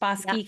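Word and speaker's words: Bosque: And though that's in um Bos County, is that how you pronounce it? Bos County. Boss County. Bos County. Bosi County.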